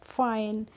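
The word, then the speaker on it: fine: ऐसे ही हम पढ़ लेंगे फाइन। अब INE का प्रोनाउंसिएशन हमने कर दिया आइन, एफ से बन गया फा, तो क्या हो गया? फाइन। क्या हो गया? फाइन। कैसे पढ़ेंगे हम? फाइन।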